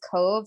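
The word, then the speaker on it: Cobh: town called Cove and it doesn't look like it should be pronounced as Cove it's spelled c b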